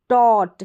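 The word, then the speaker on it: taught: जैसे यहाँ पर देखें टॉट, क्या है टॉट, ए यू जी एच का उच्चारण ओ करके रह रहा है तो टॉट है, टी का उच्चारण ट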